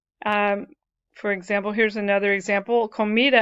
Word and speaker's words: comida: Comida ends in a vowel. If it ends in vowel N or S, when you pronounce it, you naturally pronounce the next to the last syllable as the stressed part of the word.